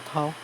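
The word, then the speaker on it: 夲: 这样写，它是大小的大下面一个十字架的十，它念作涛。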